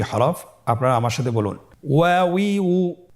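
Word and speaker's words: و: ওয়াও জবর ওয়া, ওয়াও জের উই, ওয়াউই, ওয়াও পেশ উ, ওয়াউই উ। আবার বলুন ওয়াউই উ। হা হরফটি হরকত দিয়ে কিভাবে উচ্চারণ করতে হয় স্ক্রিনের দিকে লক্ষ্য করুন এবং আমার সাথে বানান করে উচ্চারণ করুন।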